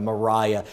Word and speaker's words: Mariah: I'm flashing back now that it's not Maria. I remember you had the pronunciation in your book of Mariah.